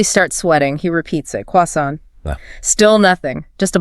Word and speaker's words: croissant: He pronounces it with the perfect original French inflection. You know, the soft N, the stress at the very end.